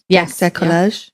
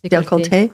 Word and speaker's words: décolleté: You can also do the halo on the neck and the décollage. Am I saying it right? Décolleté.